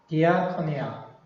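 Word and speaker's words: διακονία: 그럼 이 서비스란 말이 영어의 서비스가 그리스에서는 뭐에서 나냐면 디아코니아. 저도 사실 그리스 잘 모릅니다만 그냥 거의 발음 나오는 대로 보이는 대로 글자대로 읽으시면 돼요. 디아코니아. The service translates diaconia.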